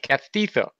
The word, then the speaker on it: castizo: You call it castizo. Castizo? Castizo. Castizu? Castizo. Castizu. I can spell it in the Spanish.